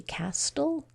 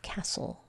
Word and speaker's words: castle: this word would be Castle but it's not when we have this stle e combination the t is silent and it's just sitting